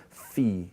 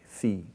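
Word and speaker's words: φ: And the last one at the bottom there, the labial aspirate, is phi, phi. Okay? Now this is traditionally how we learn they're pronounced.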